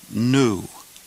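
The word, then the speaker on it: ἐν: This word is pronounced N. N. If the breathing mark in front of the epsilon were facing the other way, we would pronounce this word hen, as though there were an H in front of it. But since it's not, we pronounce it N.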